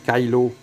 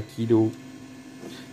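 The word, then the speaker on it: Kylo: qui lawrence écailles lorraine ça se prononce kailo pas kilos a les américains puis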